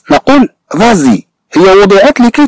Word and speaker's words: vas-y: سو S ne fait pas partie de la terminaison et prononcée dans la liaison. ثم أنها تنطق في الربط. طبعا لا ليزون سواء كان T أو S أو حرف آخر أنه ينطق. Par exemple quand on prononce vas-y. مثلا عندما ننطق عبارة فازي كنت نبرونونس فازي.